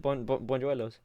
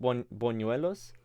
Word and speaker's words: buñuelos: Bonjuelos. Wait, hold on. Buñuelos. Yeah. I mean, I think it's pronounced bonuelos, but I like to say bonjuelos because it sounds nicer to me.